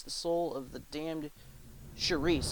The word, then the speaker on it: Charis: soul of the damned Charis. I think that's how you pronounce it. It's spelled C-H-A-R-I-S.